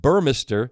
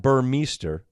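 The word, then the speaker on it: Burmester: going to show it Dean burm not burer are you saying his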